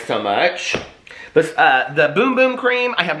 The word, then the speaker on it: Bum Bum Cream: they weren't these size but the bum the bum bum cream which somebody just told me is pronounced boom boom cream and then the coco cabana cream okay but